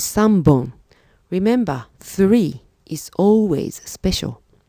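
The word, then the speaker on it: 三本: and five and pencils all on the left hand side are Pawn EX except for three which is Sun bone remember three is always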